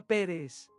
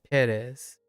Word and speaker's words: Pérez: Hola, señorita Pérez. Buenas noches, señorita Sánchez. Sánchez. Buenas noches, señorita Sánchez. Hasta mañana, señora Sánchez. Hasta luego, señora Pérez. Pérez. I'm putting the wrong emphasis on the wrong syllable there.